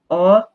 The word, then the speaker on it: au: can see you using one preposition with another with a definite article and it's producing a new type of preposition o this preposition is pronounced o to the at the